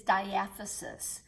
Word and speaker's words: diaphysis: The real name for shaft is diaphysis, is how you pronounce that. So diaphysis or shaft connects the two heads, proximal and distal head.